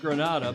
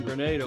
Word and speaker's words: Grenada: Andrew McIrvine standing by in Grenada, not Grenada, but in Grenada.